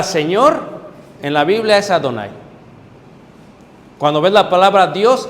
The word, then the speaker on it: Adonai: pronuncia así, sino que se pronuncia Yadonai, Adonai. Shema Israel Adonai. En vez de decir Yahvé o Yehová, porque es impuro para el judío, al añadir esto le pueden llamar Adonai.